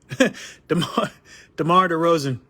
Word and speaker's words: DeMar DeRozan: still playing all right let's start over here demar derozan right all right i said it right okay